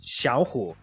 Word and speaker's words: Xiao Hu: But in Mandarin, it actually is pronounced Xiao Hu.